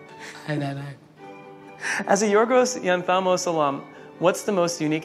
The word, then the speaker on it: Yorgos Lanthimos: As a Yorgos Lanthimos alum, what's the most unique aspect of... How did you say that again? Yorgos Lanthimos. Nah, that's terrible. How do you pronounce it? Yorgos Lanthimos.